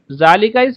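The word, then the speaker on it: ذلك: हा बतन लिका मस्द नॉ जालिका pronounce जालिका बट इट ज रिटन विदाउट अलिफ व वही बात है जो पहले हाज के ताल्लुक से बताई थी के पढ़ा तो ऐसे जाएगा जाली का लेकिन लिखा ऐसा जाएगा जालिका इस पर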